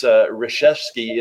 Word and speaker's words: Resheske: the mentorship I'm gonna spell this out because Reshevsky is the pronunciation but it's all L you Kas re